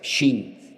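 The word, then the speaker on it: שין: En la siguiente letra, que es una letra que es se llama la letra shin, pero que tiene doble pronunciación, porque si arriba te encuentras un punto a la derecha es shin.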